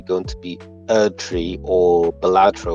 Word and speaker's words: Balatro: to be Erdtree or Balatro or Baltro, however you pronounce it. I think it's Balatro. I remember there being 2 A's in it, saying that Wukong's